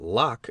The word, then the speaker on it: Locke: though I did not know that Locke is pronounced in only one syllable till many years after